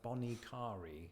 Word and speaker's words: Bonnet Carré: So the locals go with something like bonnet carré.